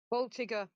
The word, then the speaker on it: Voltigeur: I want to call it the Voltigeur, but I'm probably way out. Someone pronounce that correctly if you can. Voltigeur.